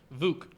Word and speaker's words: Vuk: So how do you pronounce it? VUK? VUK. It's an abbreviation of his last name. I think it's like Vukovic, I believe it is. So it's VUK. VUK Gripz.